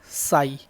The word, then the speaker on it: psi: And amplitude is denoted by साई, त्रिशूल का sign बनाते हैं और इसको पी साइलेंट होता है, PSI।